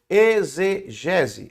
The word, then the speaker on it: exegese: Se escreve e ex com x e gese, mas você lê como se fosse um z de zabumba. Exgese, exegese.